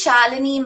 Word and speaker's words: Shalini: um uh it is shalini that's um it's pronounced like melanie with like a shah that's how i say